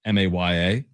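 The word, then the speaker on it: Miya: I think it's Mia, pronounced Maya.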